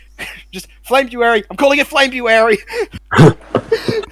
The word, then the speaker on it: Flamebuary: I'm calling it Flamebuary. I always like to believe that most people pronounce it Flamuary. But it's Flamebuary.